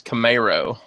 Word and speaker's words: Camaro: ] like that and actually you're saying it wrong you're set on a roll but everybody's saying wrong it's Camaro oh yeah when you live